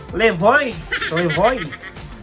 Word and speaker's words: Levoit: Hindi ko alam yung tamang pronunciation nito eh, pero pagka mga France or mga basta sa ano, sa France ata yon or Italy, silent T, di ba? Parang buffet.